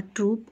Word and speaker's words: troupe: A company or a troupe of actors, an army or troop of soldiers. Now, in the troop of actors and a troop of soldiers, the pronunciation is same, but the spelling is different.